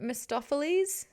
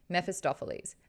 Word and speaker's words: Mephistopheles: Mephistopheles? I feel like there's another syllable in there.